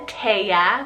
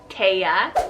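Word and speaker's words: Taisia: We have Alisa and Taya, which is spelled T-A-I-S-I-A, Taya.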